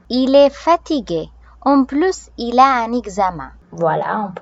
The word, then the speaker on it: plus: Ni plus ni moins. Donc on ne va pas prononcer le S.